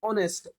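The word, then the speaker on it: honest: अब देखिए, आप एच पढ़ोगे बट इसकी प्रोनाउंसिएशन क्या होती है, ऑनेस्ट, ओ।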